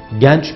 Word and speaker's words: genç: Genç kelimesindeki E kapalı bir şekilde söylenmesi lazım. Yani genç.